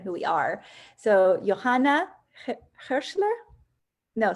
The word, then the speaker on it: Hirschler: Johanna Hirschler.